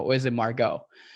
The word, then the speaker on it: Margaux: So my guest today, I think you go by Margaux, or is it Margaux? Correct. Yeah. Margaux, either one. Yeah. Some people like to pronounce a little more on the emphasis on the O.